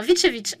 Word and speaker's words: Vicevic: doutais bien bon est-ce que vous voulez le prononcer bien correctement vitevic ok vous voyez bon maintenant on le sait